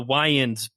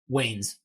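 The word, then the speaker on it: Wayans: Williams as Harvey D it does have the wans uh Marlin wans as Robin like it does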